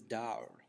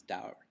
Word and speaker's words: dawr: And what's interesting is the term here is dawr. The Arabic term is dawr. Typically in English we would spell it D-A-W-R.